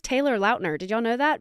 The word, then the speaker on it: Lautner: podcast with the little outners e says Taylor Lautner did you all know that because I learned that this morning while I watched it what that he pronounces it Lautner Lautner not Lautner not lotner so well mind blown here yeah anyways we